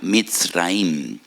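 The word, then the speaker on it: מצרים: Y recuerdan la aflicción, la amargura de la esclavitud, porque la palabra Egipto en hebreo se pronuncia Mitzraim.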